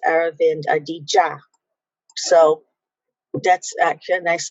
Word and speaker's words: Aravind Adiga: And if I had only sought to look at this, I pulled up Aravind Adiga, but it's Aravind Adiga.